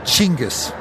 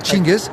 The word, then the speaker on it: Chinggis: Now, is it pronounced Genghis or Genghis? Chinggis. Genghis. I was just speaking for the Australian audience, but Chinggis.